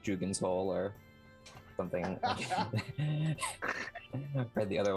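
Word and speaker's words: Dougan's Hole: In another DM pronounced it Dugan's Hole to me. That's how it was pronounced in my other campaign. So It's that's Doug. It has D-O-G. That's Doug, right? no D-O-U-G. Whatever. Yes, Dugan.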